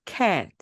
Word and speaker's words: cat: 이때 에 발음이 워낙 입이 크게 벌어지기 때문에 좀 길게 소리가 납니다. 그냥 cat, cat 이렇게 소리가 나는 게 아니라 cat 그리고 아빠는 dad, dad 이렇게. 여러분 정말 조금씩 다르죠?